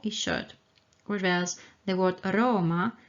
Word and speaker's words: aroma: short reverse the word aroma has a short ah and a long o